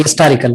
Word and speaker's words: historical: We pronounce it as just, H is not silent or there. We don't say historical, right?